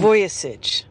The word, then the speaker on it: Vujicic: There's no K. I C I C. Vujicic.